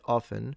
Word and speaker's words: often: He says, while English has many words with a silent T, they don't usually come after the letter F. Naturally, people assume that they should pronounce every consonant in the word often, as they do with words after and 50.